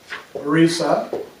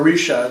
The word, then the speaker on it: Orisha: who who do things the Arisa and the Arisa or Arisha depending on you know which pronunciation you're using um those are sort